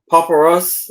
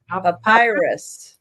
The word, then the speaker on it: papyrus: Papyrus. Papyrus. Papyrus. Yeah. Papyrus. Uh plant on Papyrus. And virus. A virus. No, it's papyrus. Papyrus. Not the virus.